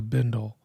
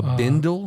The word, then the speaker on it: bindle: a uh it's called a bundle a bindle yeah how do you